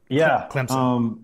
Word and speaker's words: Clemson: you familiar with this a lot of people pronounce it where like there's a p in it Clemson which I feel like I kind of Say It That Way Clemson I was I was